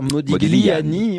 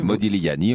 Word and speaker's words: Modigliani: On dit d'ailleurs Modigliani. Modigliani, on le prononce à l'italienne.